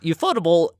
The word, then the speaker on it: Ufotable: Or UFO table, as some people call it, because that's how it's spelled. Oh, okay. Pretty dang sure it's pronounced ufotable, but that's just me.